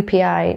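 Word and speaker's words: Joepii: Next on the list is the philodendron UPI. Now I know it's spelled a little bit funny, but I'm pretty sure this is how you actually pronounce the name. So it's pronounced UPI.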